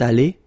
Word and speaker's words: allée: Phonetically, it doesn't exist. You don't pronounce it, so you get elle est allée, and then for the masculine form, il est allé.